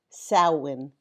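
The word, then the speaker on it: Samhain: Celtic festival of SA M h a n pronounced sin in Gaelic.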